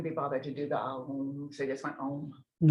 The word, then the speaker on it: Om: pronunciation is Om.